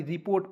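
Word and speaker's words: report: रूप में ठीक है यहां पे ऋ का उच्चारण करेंगे रे के रूप में नहीं करेंगे रिपोर्ट क्योंकि एडवांस इंग्लिश है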